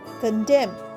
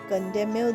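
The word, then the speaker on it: condemn: পরেরটা সি ও এন ডি ই এম এন কন্ডেম। কন্ডেমেও দেখো এম এর পরে এন আসছে। এনটা উচ্চারণ হচ্ছে না।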